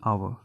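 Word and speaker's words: hour: अगला देखते हैं एन आवर। लिखने में ज़रूर हावर आता है, ये हावर, बट इसको प्रोनाउंस किया जाता है आवर, आ, ठीक है। यहाँ पे एच साइलेंट होगा, तो यहाँ पे एन का यूज़ होगा, ठीक है।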